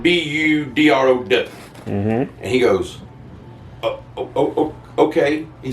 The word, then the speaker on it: Boudreaux: You spell that Boudreaux, but you can pronounce it Budrow.